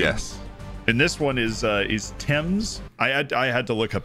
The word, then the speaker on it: Thames: And this one is Thames. I had to look up how to pronounce that, actually.